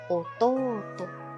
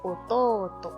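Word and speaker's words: 弟: Hermanito o hermano menor se dice Ototo. Larga pronunciación, cuidado, aquí vemos una U, ¿verdad? Igual les voy a dejar abajo en la cajita de descripción el video que habla sobre las largas pronunciaciones. Entonces, Ototo, hermanito.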